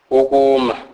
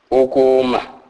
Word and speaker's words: ukuma: In many Zulu words, K represents softer sound than this. Sometimes between a K and a G, e.g. ukuma, ukuma, which means to stand.